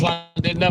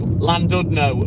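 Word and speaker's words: Llandudno: You must have heard of Landid No, or Landodno as the uneducated would pronounce it.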